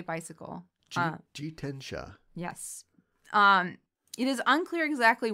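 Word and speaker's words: 自転車: Jitensha.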